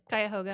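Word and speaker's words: Cuyahoga: Quuhoga, is that how you say it? Kyoga.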